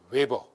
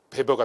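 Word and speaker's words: Weber: 웨버. 독일 사람이기 때문에 독일식 발음은 베버가 되겠죠. 베버. 근데 영어로 하면 웨버가 되는데 웨버 퍼 제곱미터라는 단위로서 이 단위를 표현하죠.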